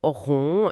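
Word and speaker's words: 榕: Il explique que le mot pour banyan, en chinois, rond, se prononce exactement comme le mot qui signifie contenir ou tolérer, rond.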